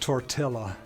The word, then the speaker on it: tortilla: It's pronounced tortilla.